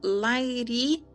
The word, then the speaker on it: Lahiri: Pouco depois de seu casamento, meus pais tornaram-se discípulos do grande mestre Lahiri Maharajaya, de Benares. Observação número 8. Pronuncia-se um tanto quanto Lairi quanto Lairi. É mudo e ao final do título.